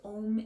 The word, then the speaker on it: Om: But in case you don't know what Om means, it is actually, so it's 2 letters.